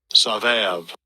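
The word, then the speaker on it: סבב: Savav. Savav. You see sabab, but it's pronounced as savav, something like that.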